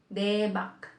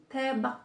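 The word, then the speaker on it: 대박: Yung iba kasi sinasabi, example, yung mga marunong na mag-Korean, debak, debak. Hindi siya debak. Tebak talaga siya. Tebak, tebak, tebak. So, T talaga ang pronunciation nito.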